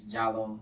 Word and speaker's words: Giallo: It's different ways you can say it, but the easiest way is Giallo. It's straight. It's like yellow.